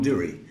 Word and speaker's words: Durrie: Our guest today is Tom Durrie. Do I pronounce it correctly, Tom? Tom Durrie.